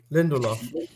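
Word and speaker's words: Lindelöf: Lindelof.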